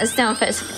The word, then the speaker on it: Stunfisk: I would say his name wrong. Stunfisk? There you go. Yeah, Stunfisk, yeah.